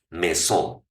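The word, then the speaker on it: maison: Mesón y casi con la manera que se escribe puedes decir mesón me suena como a mansión.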